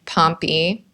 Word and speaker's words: Pompy: She had one daughter who passed away and then she had John and Pompy rhymes with Stompy.